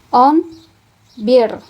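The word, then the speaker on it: on bir: Maka cara membacanya adalah on bear gitu ya. On bear.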